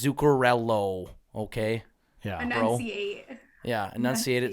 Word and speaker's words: Zuccarello: zuccarello's name correctly yeah it's not zucarella it's zucarello it's with an o oh I've heard some